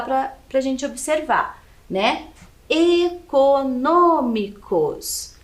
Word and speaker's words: econômicos: pra gente observar né econômicos então a última sílaba cos penúltima sílaba mi e antepenúltima é um no Ok econômicos então é a antepenúltima sílaba aqui é a mais forte e ela é acentuada